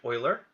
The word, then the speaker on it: Euler: lastly this one's more challenging it's called Project Euler that's how you pronounce it and it's basically a lot of